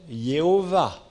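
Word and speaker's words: Jéhovah: C'est pour ça que certains le prononcent Yahweh et d'autres Yehovah.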